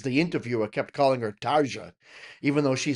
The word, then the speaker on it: Tarja: That is how I learned how to pronounce Tarja. It's not Tarja, it's Tarja. Right? Because she said it herself and the weird thing is the interviewer kept calling her Tarja even though she said, "Hello, I'm Tarja."